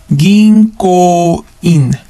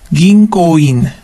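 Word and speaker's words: 銀行員: Ginkouin. Ginkouin. Notice that the N syllable or N becomes NG sound because it is followed by a K or ko. So it becomes ginkou. Ginkouin.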